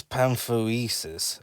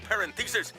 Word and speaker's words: Parenthesis: Being controlled by a sinister being named Professor Parenthesis. That's parenthesis, sir. It's Pantheresis, as Carl said it, as he got it wrong the first time, but he pronounced it now.